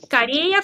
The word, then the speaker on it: Корея: Корея в Корее.